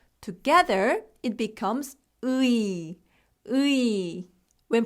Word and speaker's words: 의: When 의 is used as a possessive particle, meaning of or apostrophe s, it's pronounced as 에.